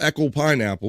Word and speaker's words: Echo Pineapple: But please check out Echo Pineapple, and that's how you say it.